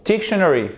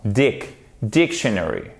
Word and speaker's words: dictionary: Est-ce que c'est dictionary, dictionary, dictionary? Non, dictionary. Non, c'est sur la première syllabe. Ça, c'est très important. Dictionary, dictionary, dictionary, dictionary.